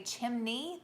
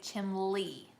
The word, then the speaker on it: chimney: Some people around here don't say chimney. They say chimley.